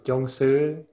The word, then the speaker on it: Chuang Tzu: Het is Chuang Tzu. Dit spreek je uit als Chuang Tzu.